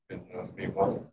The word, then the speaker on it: mnemonic: So, of course, if you haven't studied Greek, you don't pronounce the M in mnemonic.